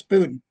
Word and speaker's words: Boodin: a specialist on one particular person John elaf buen is that how you pronounce it Michael Yes buen yes good um and he is the figure